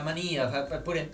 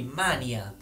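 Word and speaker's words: manìa: pure questa cosa ma la mania con accento su con l'accento sulla i mania vabbè scrivetemi che ne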